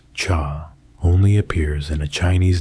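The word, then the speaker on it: 茶: The Chinese character for tea, written as cha and pronounced cha, only appears in a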